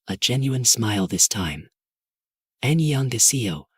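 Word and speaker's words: 안녕하세요: Annyeonghaseyo, she pronounced slowly. That ding sound is soft, in the back of your throat.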